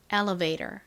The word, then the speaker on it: elevator: 다음 V는 진동이 들어간 비읍 소리 소리 나고 뒷부분 A O은 Escalator에서처럼 A가 A 소리 나고 T가 원래는 T 소리 나는데이 단어를 미국식으로 발음할 때는 리을처럼 발음한다고 말씀드렸죠. or은 R 소리 나니까 elevator elevator 이렇게 발음을 합니다.